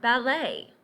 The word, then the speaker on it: ballet: right and that's because these words come to us from the French English borrows words from